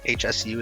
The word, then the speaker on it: Hsu: so Stephanie uh who I'm gonna guess her last name Hsu is pronounced Sue uh yeah she she